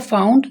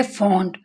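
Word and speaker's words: fond: तो आपने इसे फाउंड या फाइंड नहीं पढ़ना, इसका मायने भी चेंज है और इसकी प्रोनाउंसिएशन भी चेंज है। इसको हम पढ़ेंगे फॉन्ड।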